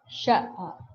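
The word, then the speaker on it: ṣ: Sha.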